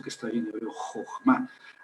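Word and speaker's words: חכמה: Jogma. Al final se puede poner una h, pero como es totalmente muda, pues eh la palabra chocma. Eh, bueno, si un si un un alemán lee eso, leería. Jokma, porque es ch suena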